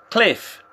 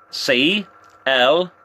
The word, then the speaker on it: Cliff: My name is Cliff. C-L-I-F-F. Cliff. That's right, you are Tao, yes? You are Tao? I hope I'm pronouncing it correctly, because I'm not the best at pronouncing Vietnamese words or names.